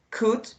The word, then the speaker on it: could: Something really important here, the verb could, you don't have to pronunciate the L, okay? Just could.